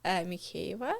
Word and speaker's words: Mykheieva: My surname, my first name and my surname is Mava, which is like Ukrainian Russian probably. Yeah. But it's very hard to pronounce. Mava.